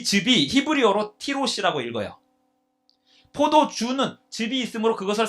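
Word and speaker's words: תירוש: 자, 이 즙이 히브리어로 티로시라고 읽어요. 포도주는 즙이 있으므로 그것을 상한 결과가 뭐냐면 야인이라고 읽어요.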